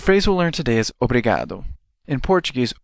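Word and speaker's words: obrigado: long way the phrase we'll learn today is obado in Portuguese obado means thank you let's hear that a little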